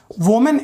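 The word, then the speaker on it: women: वोमेन एक औरत के लिए बोलते हैं हम लोग, और बहुत सारी औरतों को वी मेन कहा जाता है। तो इसका प्रोनाउंसिएशन क्या होता है, वीमेन।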